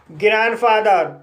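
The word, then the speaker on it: grandfather: Consonant S से शुरू हुआ है, इसलिए डी साइलेंट रहेगा, इसलिए इसे हैंडसम पढ़ा जाता है। ग्रैंडफादर, ग्रैंडफादर में पहला सिलेबल एन डी से समाप्त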